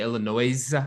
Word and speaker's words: Illinois: pronouncing pronunciation of Illinois what do I say Illinois yeah you don't pronounce CS yeah I know it's